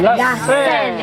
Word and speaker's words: La Seine: La Seine is the right French pronunciation.